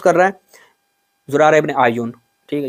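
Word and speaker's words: اعین: زرارہ ابن آئین، ٹھیک ہے، یا کے اوپر پیش پڑے آئین ہے، ٹھیک ہے، توجہ سے یاد کرو، سیکھو، ٹھیک ہے، ابھی سیکھو۔ اس کے بعد کیا ہے؟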